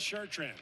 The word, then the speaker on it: Chartrand: Here's Chartrand off the glass and back up. If you're wondering if it's Chartrand, he says Chartrand. We asked. That's how I pronounce it.